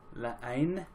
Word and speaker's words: La Haine: La Haine, I believe is how you pronounce that.